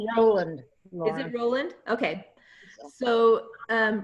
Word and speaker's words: Roland: I think that's pronounced Roland.